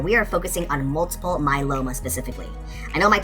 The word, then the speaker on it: myeloma: multiple like many but the second word is a little bit more challenging and it's pronounced myeloma can you say that with me ready my Loma my Loma and multiple myeloma is